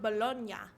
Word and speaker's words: Bologna: that is definitely spelled bologna but in Italy the city is spelled that way but it's pronounced bologna so there's a little